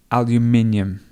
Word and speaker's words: aluminium: This word depends on where you come from. So if you're from America or from North America, you will say aluminum. If you're from places like the UK or Australia, you would say aluminium.